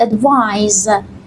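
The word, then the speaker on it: advise: بچهها اینجا دقت کنید ادوایس با سی نوشته شده اینجا اسمه خب اگر من به معنای پند و نصیحت اگر من این رو با اس میذاشتم اونوقت تلفظش چی بود؟ ادوایز و اون یک فعل بود درسته؟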